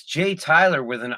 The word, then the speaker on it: Tiler: I go, it's Jay Tyler with an I. And they go, isn't that pronounced?